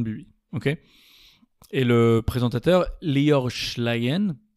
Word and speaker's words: Lior Schlein: ok, et le présentateur Lior Schlein, je crois qu'on prononce comme ça, Lior Schlein, le présentateur de Vedette